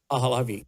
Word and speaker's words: Pahlavi: Pahlavi.